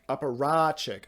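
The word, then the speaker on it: apparatchik: Wait, am I apparachic? I apparachic. Okay, that's what the pronunciation key says. I I'll play it into the microphone right off of the thing. Apparach. Apparach. Aparachic.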